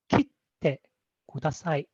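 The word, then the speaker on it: 切ってください: Now the key should be very lightly pronounced, but in this case, for the purpose of demonstration, I'm pronouncing the key, so you can kind of hear the difference.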